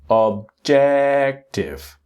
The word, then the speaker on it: objective: Not T butiv. Objective. Objective. The next word is focus.